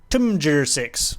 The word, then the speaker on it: TMJR6: Also, I dare to pronounce my YouTube name correctly. Timjir6. There you go.